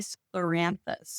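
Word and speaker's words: scleranthus: And that would be sclloranthus. And that's spelled s c l e r a n t h u s.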